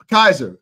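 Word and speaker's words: Kysre: Kaiser is how you pronounce her name.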